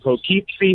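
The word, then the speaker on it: Poughkeepsie: We are rolling through Connecticut right now on our way to Pokeypsy, New York, I think it's pronounced.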